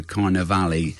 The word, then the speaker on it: Carnivali: So Carnival with an I on the end. So Carnivali.